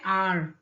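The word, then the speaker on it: hour: आर, जब आप आर बोलते हैं तो एच जो है वो साइलेंट हो जाता है, इसकी स्पेलिंग क्या बनती है, आर, इजंट इट।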